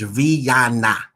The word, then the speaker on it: Rihanna: a little warning and listen to my pronunciation this says riyana riyanna this is not